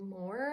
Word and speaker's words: Moher: We just had a little breakfast and we're going to make the 3-hour drive to the cliffs of Moher, I think is how you say it.